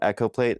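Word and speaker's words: EchoPlate: I know it's spelled E.Plate, but it's named Echo Plate, and it's built by Jim Cunningham of Studio Technologies in Illinois back in the 80s.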